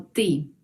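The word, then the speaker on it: ты: a pronunciarlo y ya tú se pronuncia como ti es muy fácil repetir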